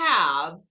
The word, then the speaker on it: have: I have. Não pronuncia o E, não pode pronunciar o E.